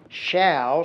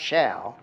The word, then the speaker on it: Show: Waddy employed one nicknamed Rollie, R-O-L-L-I-E, he spelled it, Shaw, spelled like show, S-H-O-W, but pronounced Shaw.